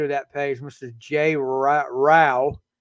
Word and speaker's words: Rao: Jay Rao. Rhymes with cow.